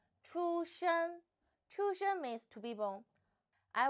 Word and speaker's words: 出生: The word of today is 出生. In this video, I will teach you how to pronounce it, how to write it, and how to use it.